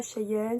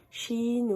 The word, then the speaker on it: Shein: ça me dit que ça se prononce pas Cheyenne, ça se prononce Chine ou franchement, moi je le prononce comme je veux, chacun le prononce comme je veux.